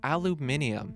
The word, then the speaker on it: aluminium: Aluminum, or as it's pronounced in other parts of the world, aluminium, is a chemical element